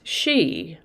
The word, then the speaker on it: sidhe: the way it's spelled it's pronounced she but it's spelled s-i-d-h-e she is a noun